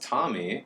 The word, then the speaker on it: Tomi: Tommy Lauren it is pronounced Tommy like the boy's name and Lauren like laryngitis